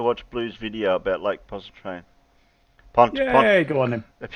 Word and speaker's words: Pontchartrain: blue's video about lake pontchartrain yeah go on him if you want to do that if you want to pronounce it right it's pontchar train poncho train there's no ears puncture